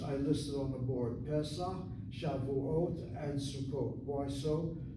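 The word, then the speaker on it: פסח: Pesach, Notice that sego underneath that pay, short vowel, open syllable, therefore is accented. Pesach, not Pesach, Pesach.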